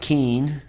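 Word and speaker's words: k'in: the periods of time a day equals kin or pronounced keen the month of 20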